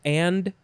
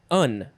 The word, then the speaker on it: and: And what I find interesting is the pronunciation guide says that the and word is just un or an. There's no D sound in there, and.